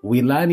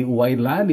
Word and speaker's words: Wilani: na kasi siyang itinama na wilan ang bigkas sa pangalan ko at hindi wlan pero wlan pa rin